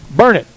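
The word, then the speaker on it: Burnet: Burn it.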